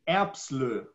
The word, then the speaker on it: Erbsloh: Sebastian, you're doing pretty good, but it's because of the umlaut, and it's pronounced Erbsloh.